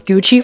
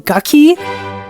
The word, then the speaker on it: Gucci: Adidas versus Nike rivalry I didn't know how to pronounce Gucci for the longest time so I think in my head I kept saying gucky I don't know how